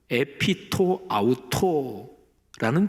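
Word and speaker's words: ἐπὶ τὸ αὐτό: 헬라오 원문 발음으로 에피토 아우토라는 표현이 있는데요 표현이 한글 성경에는 번역이 안 돼 있어요. 근데 에피토 아우토요 표현이 사도행전 1장 15절에도 나오고 2장 1절에도 나와요.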